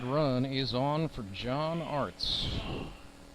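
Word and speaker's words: Arzt: is on for John Arts. 1 for 3 as he walks up with some Turnpike Troubadours music in the background. 4 for 15 in 2023's Arts. Spelled A-R-Z-T, but pronounced like arts and crafts.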